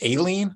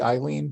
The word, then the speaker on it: Aileen: Judge, I believe it's pronounced Aileen, although it makes like it might be Eileen, but I've heard it pronounced Aileen Cannon.